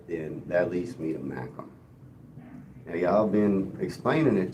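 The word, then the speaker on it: Mackem: I guess the confusion is is that you pronounce it mackum and you spell it m a c k mackum.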